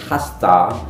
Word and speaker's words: has to: to menjadi hak car has to menjadi hasta dan have got to